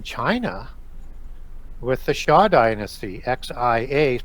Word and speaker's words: Xia: And so they did that again in China with the Xia dynasty, XIA, pronounced Xia, that produced all of